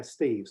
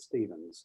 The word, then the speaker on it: Steeves: Right, we will move on to our next speaker, who I think I mispronounced when I welcomed, because it's Dr. Steeves, and I think I said Stevens, and I shouldn't have done.